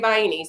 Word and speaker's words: Vienna: But these are chicken viennies, which it's spelled Vienna. But I'm from Kentucky, and we say viennies, okay?